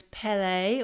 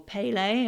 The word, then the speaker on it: Pele: Okay, now if you chose card number 3, you chose Pele or Pele, and once again, other ways of pronouncing her name.